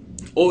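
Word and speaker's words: を: second one is o o is very common too and though you pronounce o it is written with W okay and it shows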